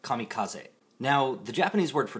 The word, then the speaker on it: kamikaze: I always hear people pronounce it Kamikaze instead of Kamikaze.